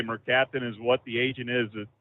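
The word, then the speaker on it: mercaptan: okay hydrogen sulf and yeah that that's it's pronounced Merc capin okay that's it yeah that's so they said it smelled like rotten eggs yep yep that's as I say merap is what the agent is that he used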